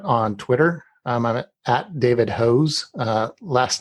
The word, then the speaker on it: Hoos: can do that on twitter i'm at david hoes last name is spelled h-o-o-s don't know why it's pronounced that